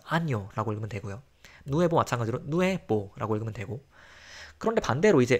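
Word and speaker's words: nuevo: 그래서 아뇨라고 읽으면 되고요. 누에보 마찬가지로 누에보라고 읽으면 되고.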